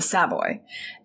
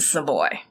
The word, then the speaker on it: Savoy: hotel in london but it's pronounced differently right in london it's the saboy and in harlem it's the savoy and it was as its